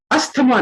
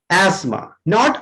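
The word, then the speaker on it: asthma: सो पहला हमारा था होटल, दूसरा है एस्मा, अस्थमा नहीं। तो मेरे ख्याल से नॉर्मली ज्यादातर लोग इसको अस्थमा ही बोलते थे ना। यस सर। बट the real pronunciation of this एस्मा, नॉट अस्थमा।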